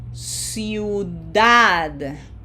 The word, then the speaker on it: ciudad: Okay, so now we are going to put pronunciation emphasis in that syllable number 1, or the last syllable of the word, okay?